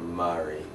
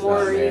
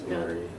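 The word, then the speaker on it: Maurie: Yeah, that's a different spelling for Marie, but it's pronounced a little differently. It's not Marie. Yeah, it's like There's Maury. Yeah, it's Marie.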